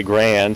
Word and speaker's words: Garand: And I mean, John Garand said his name rhymes with Aaron, but here in the United States we say Grand, so it is what it is.